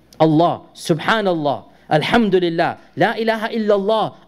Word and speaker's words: Allah: Of the interesting Facts about this name of Allah is that it is the only word in the Arabic language in which the double L has a special pronunciation.